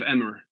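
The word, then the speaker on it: Emer: of Avira or Amira the wing of emmer is how an American would pronounce it but anyway I don't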